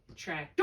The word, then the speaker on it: tractor: So is it tractor? Oh, sorry, tractor or tractor? Tractor, right. So let's code the A and the vowel in a closed syllable short, code it with a breve. I've got my accent on the first syllable, and I better put